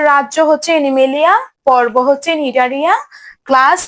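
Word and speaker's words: Cnidaria: দেখো প্রথমে সি আছে, সিটা কিন্তু উচ্চারণ হবে না, এটা হবে নিডারিয়া, সিটা উচ্চারণ হবে না, সিটা উজ্জ্ব থাকবে।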